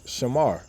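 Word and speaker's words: שמר: We understand how the word is formed in the ancient Paleo Hebrew, which is 3 syllables, Shah, Ma, and Ra. And we put it together and we know it's Shamar, which means to guard or to observe.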